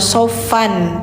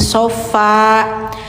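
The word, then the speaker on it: صفا: Jadi bacanya jangan shofan tapi sofa. Karena tanwinnya diganti ke panjang.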